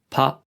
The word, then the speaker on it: ぱ: Ha with a handakuten is pronounced pa.